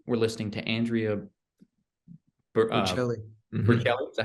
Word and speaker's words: Bocelli: Bocelli. Is that how you say it? Yeah, Bocelli.